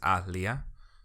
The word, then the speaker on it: Aaliyah: died okay off see i'm gonna pronounce this wrong because i normally say aaliyah but when i see the two a's i say alia so um yeah she okay so i'm looking at how they pronounce it alia so alia anyway she was probably probably